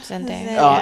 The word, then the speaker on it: Zendaya: Is that how you pronounce her name? Yeah. Zendaya.